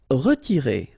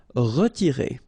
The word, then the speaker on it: retirer: Okay, it's interesting here because you've got this X and then you pronounce it X. Examiner. Douter. Retirer. Okay, remember to insist, or not to insist, but to pronounce the like a here. Retirer.